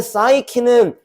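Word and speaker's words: psyche: 어 참고로 3번 마지막에 있는 사이키는 마음, 정신 이런 뜻이다. 얘도 수능 영단어이긴 해야더라. 어 3번 매사이키라고 읽는 거고 마음 정신 그니까 소울의 뜻이야.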